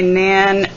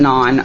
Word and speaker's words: naan: can see how my nan I know some people pronounce it non I pronounce it Nan I'm not good with